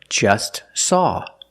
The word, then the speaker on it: just saw: want to eat or just saw we see the t is between consonants so don't pronounce it it's silent just saw you link the S with the S link them together just saw just saw